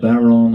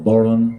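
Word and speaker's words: bodhrán: Pronounced different ways across Ireland. Barrel or boron is a common way.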